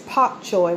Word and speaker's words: bok choy: have two bok choy i know it's spelled with a b but the e the right enunciation is pak choy with a p eggplant i got two